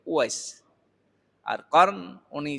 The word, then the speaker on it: উওয়াইস: আমাদের দেশের মানুষ বলে ওয়াস করণী না কি জানি বলে, কি অস্করণী বলে। আচ্ছা, এটা আরবি শব্দ। উওয়াইস নামের মূল উচ্চারণ হচ্ছে উওয়াইস।